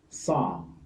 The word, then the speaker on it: psalm: The next one is AL, as in balm, calm, psalm, palm, half. Take note, the L is silent.